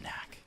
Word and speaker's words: NACC: Blaze Knack it's pronounced Knack or like nask if you want to like do like a soft C for one of them no we're definitely not